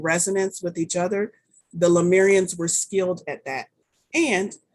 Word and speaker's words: Lemurian: It is lemur, like the animal, lemur, Lemurian.